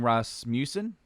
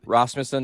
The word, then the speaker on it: Rasmussen: their producer uh fleming ross museum is that is that is that how you say his name he's rasmussen yeah raj smithson and it's